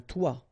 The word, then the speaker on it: toit: Okay, and then both of them are pronounced like toi.